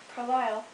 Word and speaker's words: Carlisle: settlers to move there carlisle pronounced as you may have noticed with the accent on the second syllable was named after an